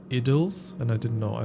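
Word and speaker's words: Idylls: This one's actually pronounced idles.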